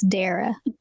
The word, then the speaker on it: Dara: it is so unusual it's like Sarah only with a d so it's Dara well I had it